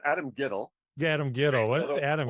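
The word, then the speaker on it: Adam Guettel: So my question is, in terms of Rent, is what is Adam Guttell up to these days? Well, it's pronounced Adam Gittell.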